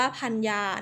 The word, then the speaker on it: ภรรยา: ว่า สรรเสริญ ภรรยา หรือ สาระ เสิน หรือ ว่า พันยา นะ คะ คำ บาง คำ นี้ นะ คะ